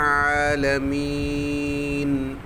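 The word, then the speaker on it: العالمين: നൂൻ ആണ് അത് ശ്രദ്ധിക്കുക ആലമീൻ അവിടെ ആലമീം എന്ന് മീം ആവരുത് ചുണ്ട് കൂടിയാൽ മീം ആയി മാറും ആലമീൻ അത് ശ്രദ്ധിക്കുക പിന്നെ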